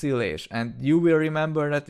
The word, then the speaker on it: Illés: Maybe you won't remember my family name, that is pronounced as Illés, but it looks strange, right? At least for English speakers, it starts with an I and it's followed by 2 L characters.